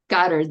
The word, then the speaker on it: Goddard: always say his name Goddard. wrong. Goddard, that's it.